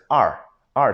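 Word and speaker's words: 二: Okay, so according to the Pinyin is Don't say it like all like American, you know, it's not it's R. So the trick to that is just imagine the letter R, right?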